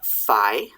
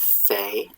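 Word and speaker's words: fay: uh phi or fe it depends on the time period when how you pronounce it um we pronounce it fe nowadays in english and it can be spelled a couple ways f-a-y or f-a-e depending on how fancy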